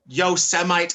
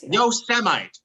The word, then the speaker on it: Yosemite: And he was like, Yosemite. Yeah. And then he was like, no, Yosemite. He said it twice. The second time he was firm. This is how you pronounce this word.